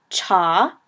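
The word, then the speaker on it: 茶: the Lea was now I thought cha was a word for Te and it is but it's not cha it's cha so I was at the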